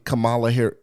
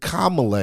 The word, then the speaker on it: Kamala: go to her website Camala Kamala Harris we we got to say it right oh yeah mhm